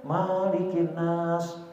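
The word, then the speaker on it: مَلِكِ النَّاسِ: Tetapi kalau dalam Anas sepakat para qurra ahli qiraat, ya, itu bacanya gugurkan alifnya. Qul a'udzu birabbin nas, malikin nas. Jangan dipanjangin. Malikin nas. Nah, banyak tahlil masih gitu tuh. Malikin nas, bilangin tepok, pendek bacanya.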